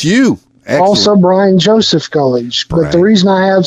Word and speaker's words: Gulledge: Am I pronouncing your last name properly? Gulledge.